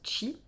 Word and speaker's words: qi: chinoise on appelle ça le tchi qui s'écrit QI mais qui se prononce chi comme dans la pratique la pratique martiale le chi kong donc le tchi c'est